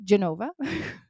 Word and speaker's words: Genova: between Pisa and Genoa which is they call it Geneva there or Genova Genova I'm going to call it Genoa just because that's how you spell it um but anyways that